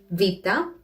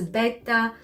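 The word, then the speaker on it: βήτα: with the following letters vita rama delta fita as you can see i probably pronounced them differently from how you know them you might have heard vita as beta rama as gamma and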